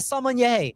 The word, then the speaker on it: sommelier: And who better, Ron, to be by our side than the sommelier?